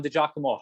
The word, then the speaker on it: DiGiacomo: you know him as jameson from wwf john the giacomo how are you doing today my man oh thanks man not many people could pronounce the name that's awesome i didn't even